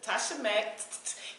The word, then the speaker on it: Tasha Mac: So when you say my name, make sure you say it completely. That's Tasha Mac, holla back.